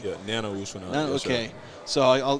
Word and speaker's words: Nana Owusu-Anane: just told me how you say your name, Nana Owusu-Anane. Yeah, Nana Owusu-Anane. Yes, okay, sir. so I'll give myself a B on that pronunciation.